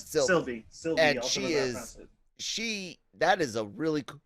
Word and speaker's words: Sylvie: We see C20 kind of getting fucked with in her mind by Lady Loki, who we learn goes by Sylvis. Is that how I pronounce it? Sylvie.